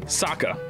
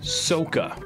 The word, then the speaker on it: Sokka: Okay, next one, Sokka. Pretty easy, right? Wrong. They said Soka.